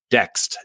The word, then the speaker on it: Dext: Dext, D as in Delta. It's spelled like next. Okay. D-E-X-T, T as in tango.